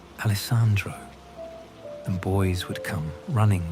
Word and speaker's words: Alessandro: Four syllables, each one clear and melodious.